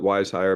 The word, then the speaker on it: Wizehire: all one word okay we like to joke that we're we're smart enough to call it wise hire but not smart enough to spell it right so there's a z in there instead of an S that's it other than